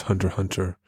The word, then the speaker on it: Hunter x Hunter: It's pronounced Hunter x Hunter. The X is silent.